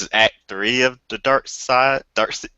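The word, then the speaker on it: Darkseid: act three of the dark side dark dark side dark side side don't fight the urge to say seed side spell it right and I won't have that urge uh Doug and myself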